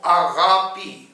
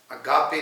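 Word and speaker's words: ἀγάπη: پہلی بات تو یہ میں بتانا چاہتا ہوں کہ یہ لفظ اس کا صحیح جو پروناؤنسیشن ہے یہ تلفظ ہے وہ آغاپی ہے، اگاپے نہیں ہے.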